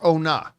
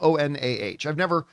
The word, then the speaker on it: Onah: Now, the director of the film is a guy by the name of Julius Onah, or Onah, depending on how you pronounce it. His last name is spelled O-N-A-H.